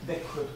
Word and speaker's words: Växjö: We were around the country in various places that I can't really pronounce very well, like Växjö. What's the right pronunciation of that? Växjö. Växjö.